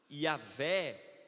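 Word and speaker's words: Yahweh: H w e h yahvé e yé pronúncias diversas o Deus da aliança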